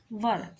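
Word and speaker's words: were: हमारे पास दो helping verb होते हैं, वॉज और वर। इसको वर पढ़ते हैं, कुछ स्टूडेंट्स इसको वेयर कर देते हैं, तो ये वेयर नहीं होता, इसका सही प्रोनाउंस जो होता है वो वर होता है।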